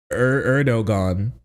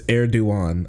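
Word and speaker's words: Erdoğan: I've always heard erduan but bro just said erdogan is that not true is that that's not that's not how you pronounce his name actually right yes it's eruan okay erigon Star Wars ass name you stop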